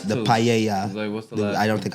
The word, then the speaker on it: paella: No, it's paella. Okay. Well, pa, I guess, but we it's pronounced Spanish cuz two L's.